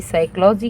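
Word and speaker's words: psychology: हैं next spelling हमारी साइकोलॉजी की है और साइकोलॉजी की स्पेलिंग में सबसे पहले ये एस वाला काट दीजिए क्योंकि इसमें ब प आता है और पी यहां पे साइलेंट है और पी एस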